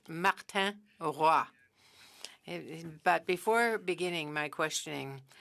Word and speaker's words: Martin Roy: Chair, his name is pronounced Martin Roy.